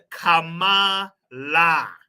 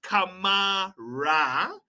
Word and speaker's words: Kamala: the times of Zambia Kama La okay not Kama ra Karma say it with me people Kama La hopefully we'll send Mr